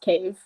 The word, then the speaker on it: Cave: And yes, my name is Cave, but it's just Cave.